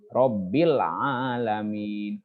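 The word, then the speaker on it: رب العالمين: Nah, jadi robbil di sini ada sukun di atas alif lamnya. Itu dinamakan alif lam qamariyah. Jadi lamnya ada dibaca. Robbil alamin.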